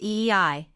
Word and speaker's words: ie: He is also the great averter of evil, and has names from the cries ie, pronounced eei, and paean, cries for